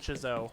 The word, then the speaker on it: Chzo: I pronounce it Chzo, but that's probably wrong.